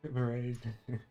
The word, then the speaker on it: Merijn: Looks like Marine, M-E-R-I-J-N. Yeah. I'm kind of just pretending that the J-N is a G-N. Just pronounce it as a mage.